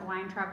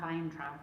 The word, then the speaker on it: Weintraub: Katrina Urata Weintraub, and we decided that we would pronounce it Weintraub because it says she's American and she's not German, not Weintraub, but we went back and forth on it.